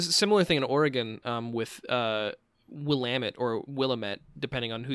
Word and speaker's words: Willamette: I know it's pronounced Willamette because of Dead Rising.